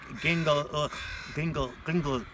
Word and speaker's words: Gingolx: I'm here today with Chris Stanley, and we're actually in the community of Gingolx, how do you say it?